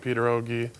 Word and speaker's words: pierogi: Yeah, most people say pierogies, but the I already makes it plural. So, pierogi is the proper way to say it.